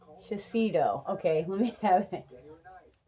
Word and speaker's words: Shiseido: So it's Shiseido. Okay, let me have it. Before I forget how to pronounce this, Shiseido.